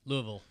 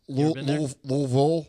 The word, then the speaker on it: Louisville: Other Lou this weekend which L is that Louisville oh Louisville Louisville that's how you say it I know